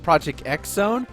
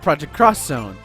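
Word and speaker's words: Project X Zone: project uh cross Zone it looks like project xzone which that's what I pronounced it for the first couple months but it's called project cross Zone I don't think it's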